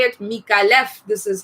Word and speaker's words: Micallef: is pronounced peak I left folks it's not me Kai F if you pronounce it Nick is because you heard it